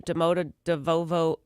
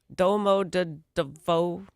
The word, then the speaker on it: Domodedovo: This was a departure from Domodedovo Airport. Wow, I pronounced that wrong. Domodedovo.